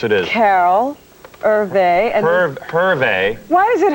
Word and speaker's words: Hervé: Hervé. Why is it Hervé? He's French, yes? Yeah, but you pronounce the H. It's like, it's not like hors d'oeuvres or something. It's the opposite.